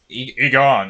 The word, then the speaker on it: Aegon: I actually think Egan stepped Agon.